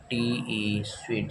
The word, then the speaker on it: suite: है, उसी को हम स्वीट। दोनों का प्रोनाउंसिएशन आपका सेम ही है, स्वीट स्वीट।